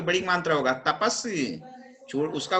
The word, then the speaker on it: तपस्वी: मुस्कान तपसी नहीं है, तपसी पढ़ोगे तो साथ पे बड़ी मात्रा होगा तपस्वी।